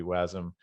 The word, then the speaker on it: wasm: some uh was some wasm the pronunciation people can debate it but maybe technically it would be wasm because it kind of comes from the precursor asm.js which was sort of uh